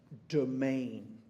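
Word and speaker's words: demesne: understand in the poem this word here is actually pronounced domain okay and it is a Norman word now those of you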